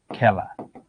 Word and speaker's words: খেলা: খেলা, এ আছে বুঝলাম, পরে আ আছে, এটার উচ্চারণ কি? খেলা।